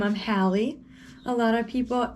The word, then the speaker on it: Halle: i forgot to tell you my name i'm hallie a lot of people it's spelled h-a-l-l-e which like first of all i